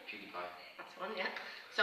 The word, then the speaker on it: PewDiePie: So the example that you sent me as part of kind of the interview preparation, how do you pronounce his name? PewDiePie.